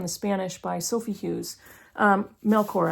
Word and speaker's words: Melchor: Melchor, actually, I believe is how you pronounce her name.